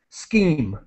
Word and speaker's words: scheme: sound like champagne and in this case the CH has a k sound scheme all right great let's